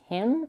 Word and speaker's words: him: sound in the pronounce him and them ask him ask him actually ask him and ask them sound the same way if you connect them and drop the first sound so the meaning is